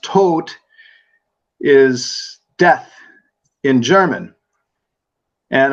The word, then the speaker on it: Tod: T which is interesting for me because Todd pronounced tote is death in German and a fellow by